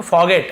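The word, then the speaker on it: forget: अब आप बोलेंगे सर आर लिखा है, फॉरगेट क्यों नहीं पढ़ रहे हैं, तो फॉरगेट लिखा हुआ है लेकिन आर थोड़ा सा साइलेंट है, फॉरगेट ऐसे रहता है, ठीक है।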